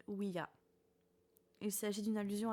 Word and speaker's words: Ouija: En fait, on devrait prononcer Ouija.